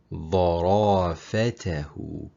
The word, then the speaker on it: ظرافته: ظرافته.